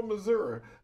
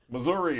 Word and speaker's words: Missouri: you one quick question do you pronounce it Missouri or mazury mazury mazury okay we were having